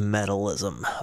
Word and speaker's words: Metalizm: I believe this song is pronounced metalism, but I know that I've been dying to get back to baby metal.